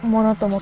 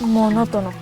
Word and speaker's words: monótono: se dice esa palabra es monótono o monótomo creo que es monótono si no me equivoco así que bueno hago